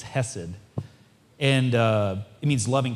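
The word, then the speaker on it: חסד: Hebrew words is, and I won't pronounce it right because it'll it's got to come from the back of your throat. It's hessed.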